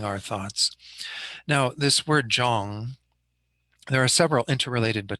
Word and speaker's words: Jong: left of that first dot is Lo, it's pronounced Lo. And then the last part is Jong.